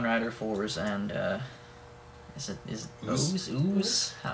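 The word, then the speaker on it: OOO: Number 7 is Kamen Rider Force, and is it Ooze? Ooze? They pronounce it ooze. It's supposed to be O's.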